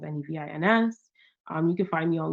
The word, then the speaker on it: Nevins: Um, you can also go to, if you look up Nevins, my last name is Nevins, Nevins.